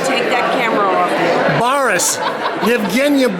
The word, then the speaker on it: Baras: Bradford she's going to give me the correct pronunciation go ahead we're at y yena yes now take that camera off you Baris yena Baris okay thanks Kathy thank you here's a friend